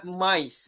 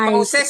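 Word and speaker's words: mice: Jamaknya dibacanya mais. Mais. Mais. Mais. Mais. Bukan mauses ya.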